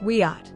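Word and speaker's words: Wiyot: a representative of the Wiiat, pronounced WEAT, tribal council.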